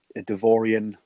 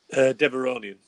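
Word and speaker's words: Devaronian: He's joined by a Devorian strongman called Berg, which I thought looked brilliant. The fact that we've seen this, is how you pronounce it, Devorian, is that right? Deveronian.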